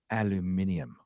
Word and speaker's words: aluminium: Jim Howard for £2 British says, Garrett, it's aluminium.